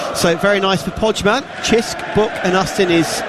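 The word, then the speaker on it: Cisk: few pints of it I know how it's pronounced chisk it's the local beer because I had a Maltese old colleague of mine he used to bring us a few cans of chisk so very nice for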